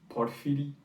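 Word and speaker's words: Porfiry: best written character my my friend helped me with the russian pronunciation but it's portfidi well he um it's really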